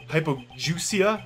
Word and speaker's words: hypogeusia: Pronounce. Hypogeusia. Like goose.